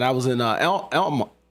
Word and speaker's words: Alma: was in uh El Elma they call it Elma even though it's spelled a ma a you know we're not